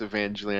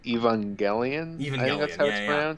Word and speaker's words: Evangelion: the max yeah because i don't think the movie is evangeline i think it's evangelion yeah and i and